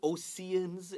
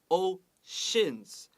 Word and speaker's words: oceans: s-h-defying write that down don't say oseans it's o shins and a count woman